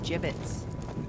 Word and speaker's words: Jibbitz: Avery had some gibbits left over. Gibbits? What? It's pronounced Jibbitz.